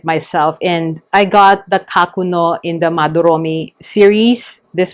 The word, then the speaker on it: Kakuno: Other people have said kakuno. Again, it's probably the English way of saying it, but in Japanese, it is pronounced as kakuno.